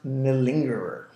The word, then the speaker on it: malingerer: positive words this will be interesting this is pronounced nalingerer now there's a verb which means to malinger